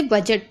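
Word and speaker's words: budget: और जा भी पढ़ेंगे, तो इसे बजट पढ़ते हैं। ठीक है, इसमें डी नहीं पढ़ना है।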